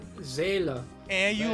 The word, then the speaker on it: Seele: In the dub it's Sele, even though in Deutsch German, right? it's Seele.